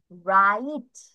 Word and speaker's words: right: আই এর pronunciation ই মতো হয়েছে, আর জিএস এর প্রোনাউন্সিয়েশন দেখো ঘর মতো হওয়ার কথা বা গড় মতো হওয়ার কথা, এটা এখানে উচ্চারণ হয়নি।